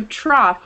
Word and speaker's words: trough: Trough, trough is off.